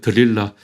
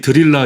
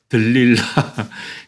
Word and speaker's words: 들릴라: 발음이 어려워요. 들릴라. 우리는 흔히 드릴라 이렇게 이야기하는데 들릴라.